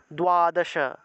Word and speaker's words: দ্বাদশ: তাহলে তুয়া উচ্চারণ হবে ত এর নিচে বফলা থাকায় তস্যকার অন্তস্থ তাহলে তুয়াকা তুয়াকা দোয়াদশা দোয়াদশা তুয়াকা এভাবে উচ্চারণ আসবে অর্থাৎ যে জায়গাতে আমরা